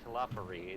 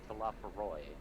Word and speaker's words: Talafaroy: And Eddie's been mispronouncing it because it's not Talafari, it's Talafaroy.